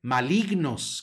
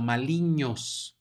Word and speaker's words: malignos: ñ por lo tanto no se dice malignos como en el español sino maliños malignos en la siguiente